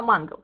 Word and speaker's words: Мангал: Не Мангал, а Мангал. Все правильно, да, ударение на первый слог.